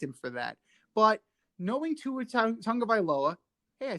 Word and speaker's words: Tua Tagovailoa: But knowing Tua Tagovailoa, hey, I said it right.